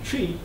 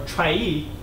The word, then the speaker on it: Trie: Based on all these observations, we propose a new data structure called Lazy Trie, or Trie, depending on how you pronounce it.